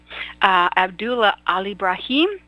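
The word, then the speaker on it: Abdullah Alebraheem: tonight is actually chatting with us from Kuwait abdullah al ibrahim did i pronounce it right did i get it yes dr.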